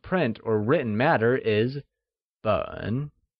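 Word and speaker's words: 本: The Measure word for volume or any bound print or written matter is Běn which is pronounced in the falling rising tone!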